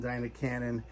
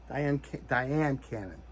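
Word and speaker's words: Dyan Cannon: Did I say her name? Diane Cannon. Not Diana. Diane Cannon.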